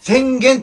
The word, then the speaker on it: 浅間: いうふうになり阿蘇山が浅間という風になって宣言と読むようになったんじゃ